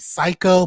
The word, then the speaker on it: Siko: promo with this guy named Psycho, but it's spelled Siko.